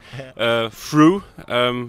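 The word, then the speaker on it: Früh: F-R-U with umlaut. Yeah. And that's H. For those who don't know, that's the two dots. That's the two dots on the U. Fruh, you will call it.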